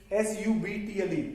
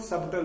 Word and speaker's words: subtle: There is a very subtle difference. S-U-B-T-L-E. It is not subtle, it is subtle.